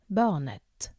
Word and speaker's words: barnet: here it's buona notte Barnett the T is silent at the end for the feminine however